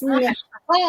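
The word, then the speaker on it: Michal: And when you listen to the YouVersion app, anything that has her name, they call her Michael. I'm like, no, it's Michelle. You're supposed to roll the back of your tongue.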